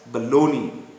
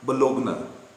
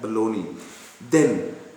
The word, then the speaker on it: Bologna: It is pronounced as Bologna, not Bologna. Please remember that, Bologna.